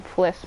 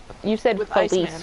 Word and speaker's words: Fliss: You said Felice or something. Fliss, yeah. Yeah, I was just saying that you'd pronounced it wrong, just so that you didn't, like, remember it inaccurately.